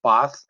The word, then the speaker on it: Ba'ath: It looks like Bath, but it's pronounced Ba'ath.